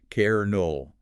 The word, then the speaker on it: colonel: English speakers, we locked in the old French pronunciation of kernel and just stubbornly kept saying it. Even though the letter was completely erased from the dictionary.